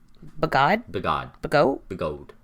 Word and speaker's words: Bigod: Yeah, and this guy's name was Francis Bigode. Bagod? Bigod. Bagot? Bigode. By God. Frankie B. It is spelled like by God.